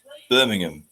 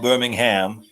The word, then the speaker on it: Birmingham: in Edinburgh also just as an FYI it's pronounced Birmingham not Birmingham Birmingham to be fair if it is two